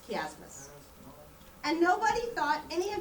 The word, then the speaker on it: chiasmus: It's spelled like chiasmus, but it's chiasmus.